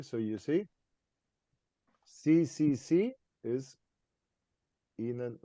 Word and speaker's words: ihnen: Ihnen? Ihnen. Ihnen. Yeah. Ihnen. Lowercase. Mm. So if you say einen and don't pronounce it ihnen, then I think you're saying this.